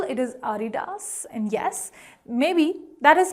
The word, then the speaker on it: Adidas: But if you want to go by the correct German pronunciation, which this brand actually is, it is Adidas, with no typical focus on a particular syllable. It is Adidas.